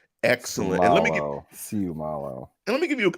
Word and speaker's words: Seumalo: Issac Seumalo. Did I get it, Neil? I believe so. I have heard Seumalo and I've heard Seumalo, but the accent on the second syllable of that is correct. Excellent. Seumalo.